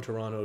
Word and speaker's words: Toronto: to live in Toronto if you're from Toronto you say Toronto you don't pronounce the second T but um so he